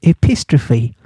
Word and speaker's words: epistrophe: Well, there's a name for that, and it's called epistrophe. Like apostrophe, but epistrophe.